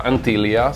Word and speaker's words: Antlia: Il nickname di questa scarpa, nonché della colorway di questa scarpa sull'etichetta Antilia, si dovrebbe pronunciare in questo modo, letteralmente significa proboscide, però